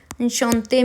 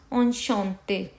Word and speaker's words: enchanté: Enchanté means nice to meet you. ENCHANTE. Enchanté. How are we going to pronounce enchanté?